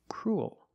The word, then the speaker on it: cruel: an extra little sound cruel like pool and cool example this boy is